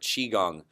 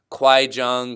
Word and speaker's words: Qigong: least you know now how to say this word Qigong I've heard it be I've already called Kwai Jong Kwai Jong so the hardest thing